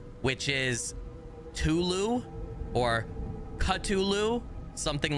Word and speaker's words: Cthulhu: in this game is the way that Lovecraft said it's supposed to be pronounced. I joke around to say that sometimes too, but anyway. Yeah, Tulu or Cutulu is really the closest that humans can come to saying it.